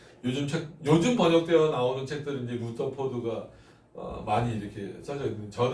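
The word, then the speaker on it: Rutherford: 그러니까 사무엘 요즘에는 그 루터포드라고 표현하기도 하고 러더포드라고 표현하기도 하는데 사단과의 평화보다는 즉 사단이 움직일 때 침묵하는 것보다는 사단과의 뭐가 낫다? 전쟁이 낫다. 사무엘 요즘엔 루터포드라고 또 있더라고요. 예전에 러더포드가 하도 익숙한 발음이었는데 루터포드가 또 맞대요.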